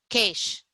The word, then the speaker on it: CAISH: With over 2 decades of experience, she has spearheaded Center for Ayurveda and Indian Systems of Healing, CAISH. Is that how I pronounce it, CAISH?